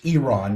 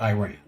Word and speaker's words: Iran: The The Iranian The proper pronunciation is Iran, not Iran.